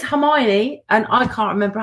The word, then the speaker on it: Hermione: they were younger and I said the name Hermione wrong for years until the movies came out it is Himani and i can't remember